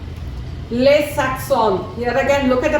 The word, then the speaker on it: les accents: That S is not pronounced.